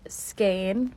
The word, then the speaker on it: skein: And everybody's been telling me to just like weigh my blanket and divide it by the weight of each skein, which I've learned is how you say that word.